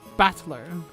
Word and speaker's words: Battler: far the problem is my own name is made up of the characters for fight in person and it's pronounced battler put it all together